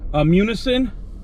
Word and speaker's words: Munising: And I've been saying the name of this city wrong the whole time I've been here, and I want to apologize to those who live here, but it's actually referred to as Munising, Michigan, and I've been